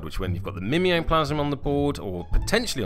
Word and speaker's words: The Mimeoplasm: the power onto the Mimeoplasm. I've probably explained that terribly. Equally, it should probably be pronounced Mimeoplasm, because he mimes things.